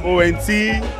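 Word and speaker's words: Owentee: But now I'm Owenti, spelled like O-W-E-N-T-E-E, Owenti CFR.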